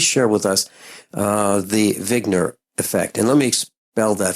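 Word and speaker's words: Wigner: the name of zner it's actually like he just spelled with a W uh but he's a his name is Dr Eugene vigner and originally back in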